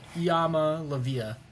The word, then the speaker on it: Iamaleava: Iamaleava.